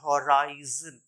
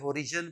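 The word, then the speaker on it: horizon: आई जड ओ एन ये my dear learner होता है होराइजन होराइजन लोग इसे हरिजन पढ़ते हैं या बहुत कुछ पढ़ते हैं दिस इ होराइजन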